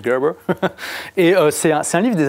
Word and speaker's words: Gerber: Ça s'écrit Gerber, hein, voilà, mais ça se prononce Gerber.